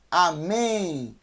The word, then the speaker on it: amém: e o número nem amém amém então é a mas nem mas é mas é nenhum amém amém não é com m no final é com n Amém porque quem todo o